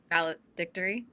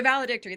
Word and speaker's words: Valedictory: it's the grade three valid dictory it's a hard one to say okay the valedictory that's how you say it and I'm going with